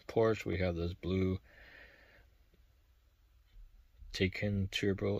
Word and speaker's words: Taycan: And instead of the police car Porsche, we have this blue Taycan Turbo S. That's how you pronounce it.